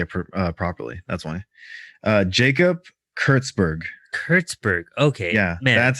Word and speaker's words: Kurtzberg: Jacob Kurtzberg.